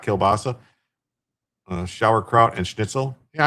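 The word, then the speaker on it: kiełbasa: So, kilbasa. Oh yeah, that's pron kilbas is how it's pronounced in Polish, right?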